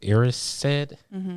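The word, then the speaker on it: Erised: Um the other thing is the the mirror of Iris said I think is is how it's pronounced.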